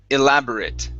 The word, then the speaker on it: elaborate: next is okay elaborate now here the at we're going to pronounce that as an it sound okay so this is elaborate elaborate elaborate elaborate good